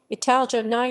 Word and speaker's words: italiani: italians italians italian italiany italian pronunciation italjani are a romance ethnic group native to the